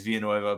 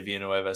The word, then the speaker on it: Villanueva: video was alejandro villanueva because i say it like that it's technically how he says it's via nueva but people got mad at me uh when i say villanueva so i'll say villanueva